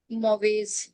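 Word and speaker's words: mauvaise: ma'am मैं सीखा था मॉवेज सिंगल एस है आगे पीछे वोवेल है सो it will sound like ज मॉवेज या मोवेस हम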